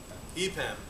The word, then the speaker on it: EPAM: And after that, two fine fellows from, do you pronounce it EPAM or EPAM? EPAM, okay, are going to be speaking about some